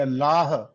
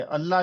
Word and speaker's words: اللہ: کر رہے تھے کہ اللہ جو ہے وہ پورا پڑھنا ہے کہ ہے تک اس کی آواز آئے، اللہ جو ہے وہ درست نہیں ہے، تو اسی طرح شروع